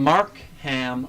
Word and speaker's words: Markham: In Markham, Ontario. Why'd you say it like that? That's how it's spelled, Regine.